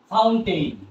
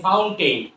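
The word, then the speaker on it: fountain: ফাউন্টেন, এফ ও ইউ এন টি এ আই এন, ফাউন্টেন। আমরা কি ফাউন্টেন বলবো? মোটেও না, আমরা কি বলবো? ফাউন্ট। কারণ এন আছে, টিটা ড্রপ করে যাবে।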